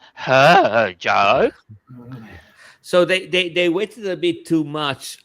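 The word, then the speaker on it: Hadjar: No, not was it a jar starting from the pit? No, it was uh a yes second. So they I think you'll find that's pronounced her jar.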